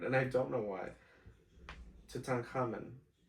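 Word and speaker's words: Tutankhamun: I have trouble saying that word and I don't know why tutan common. What did you say? Toots in common. Okay. Toot in common. I'll say it like that.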